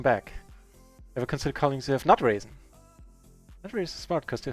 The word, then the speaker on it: NutRaisin: Because phonetically, NutRaisin, there's also nut raising in there in NutRaisin.